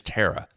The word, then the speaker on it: Tara: we completely butchered it her name is Tara there was a terara